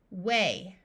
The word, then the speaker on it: weigh: Weigh, weight.